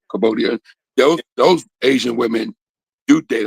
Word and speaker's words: Cambodia: But the darker Asian people from the Philippines and Thailand and okay, Cambodia, I said it right, Cambodia.